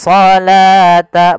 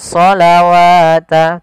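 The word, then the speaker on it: الصلاة: kita bacanya dengan asalata wau di sini dianggap tidak ada karena di sini dalam bentuk penulisan rasum utsmaninya wa aqimus shata Bukan shawata tapi shata wa aqimus shata wauzzakata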